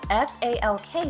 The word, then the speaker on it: Falk: So I pronounced, it's spelled F-A-L-K, so I said, oh, is it Falk? And he actually said, well, that's how you'd say it in English, but Lucas, can you tell us how you would say it in Swedish?